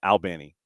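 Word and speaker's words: Albany: And it's like you're having a conversation with a guy named Alan, a guy named Benny.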